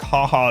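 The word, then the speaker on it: jaja: I like the J is like the H sound, right? So like haha is spelled J-A-J-A and stuff like that.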